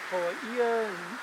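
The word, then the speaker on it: koaiʻa: So Hawaiians pronounce it koa ia and a little bit different.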